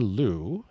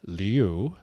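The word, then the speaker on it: Liu: be pronounced Leu but she has asked the media to pronounce it Lou. Yeah, she pronounces it Leo, but she wants us to say but she wants us to say Lou.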